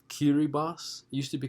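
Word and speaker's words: Kiribati: that British heritage politically the next one is pronounced kiri Box used to be called the Gilbert Islands very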